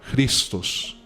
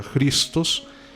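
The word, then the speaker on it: Χριστός: de Cristo en griego que se pronunciaría cristos Porque esa J se pronuncia como una J sí Entonces sería cristos y se ese signo que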